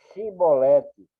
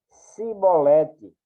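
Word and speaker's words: Chibolete: E dizendo ele: Não, então lhe diziam: Dize, pois, Shibolete. Porém, ele dizia Sibolete. Era para dizer Shibolete, porém ele dizia Sibolete, porque não o podia pronunciar bem.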